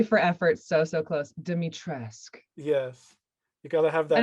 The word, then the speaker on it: Dimitrescu: demitrescu i'm sure you've heard all kinds of pronunciations of that name over so close like i a for efforts so so close demitresque yes you gotta have that and i don't